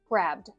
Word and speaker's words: grabbed: So, we do need to have the intention of pronouncing the D sound. So, as long as you're thinking that as you speak quickly, then it will come across as grabbed.